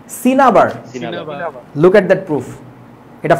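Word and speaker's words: cinnabar: সিন্নাবার লেখে এটার উচ্চারণটা সিন্নাবার না। উচ্চারণটা কি? সিনাবার।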